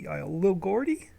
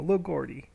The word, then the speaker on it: Lilgeordi: Break it up for me. Lilgeordi. Lil Gordy? Oh, there we go. Lil Gordy.